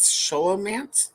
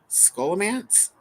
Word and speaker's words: Scholomance: yeah the book was sholom man was that right M okay sholo do you mean scholomance scholomance possibly like school yeah yeah I've heard